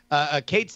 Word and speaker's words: Cait: Kate's name is spelled CAIT.